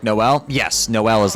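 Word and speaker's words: Noël: In French, Christmas is Noel, pronounced like Noel.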